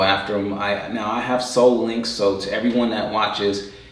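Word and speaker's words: Sole Links: Now I have Soul Links, so to everyone that watches, you should get Soul Links. It's spelled S-O-L-E, like a shoe, Soul Links.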